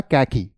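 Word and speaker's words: khaki: में पाया जाता है इसकी दो प्रोनंसिएशन है बच्चे आप इसे सिंपली खाकी कह सकते हैं या कैकी खाकी और क्याकिया टाइप ऑफ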